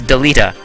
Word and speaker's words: Delita: it even more well i pronounce it delata but in the translations deleta though doom just careful not